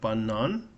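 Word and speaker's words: банан: unstressed art, you got banan. Banan is interesting because you have an a that's stressed and other one unstressed. The stress is on the second syllable.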